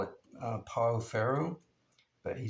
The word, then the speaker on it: Pau Ferro: I think his name is Marcos, and he told me it was pronounced Pafijo, I believe. We would call it Pau Ferro, but he said it's pronounced Pafijo, I believe.